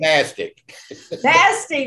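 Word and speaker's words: NASTC: worst acronym in america n-a-s-t-c right nasty there you go well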